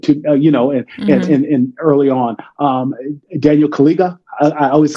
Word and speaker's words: Kaluuya: Daniel Kaluuya, I always mispronounce it. Kaluuya.